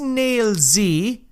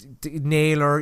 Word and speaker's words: Nailz: I'm going to pronounce it that way because he capitalised the Z and also spelled like Naylz. It's not. It's the man is Nailz. I know, alright. Nailer, yeah, fair enough. No, it's Nailz. Nailz. That's it, alright?